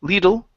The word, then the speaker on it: little: let's go to little instead of Le little little short eye sound okay like a little